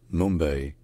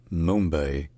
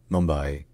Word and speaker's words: Mumbai: locally in the morati language the city is pronounced Mumbai Mumbai white in English it's most common pronounced Mumbai Mumbai all right if you enjoy learning our pronunciations